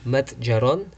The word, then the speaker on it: متجر: So, كم متجر عنده. That's how it's pronounced.